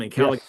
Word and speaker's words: Ancalagon: dragons from the north, there's Ancalagon, is that how you say his name? Ancalagon black That's right.